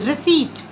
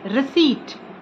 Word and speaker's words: receipt: received wrong it is receipt p is again silent here so it is receipt okay get receipt then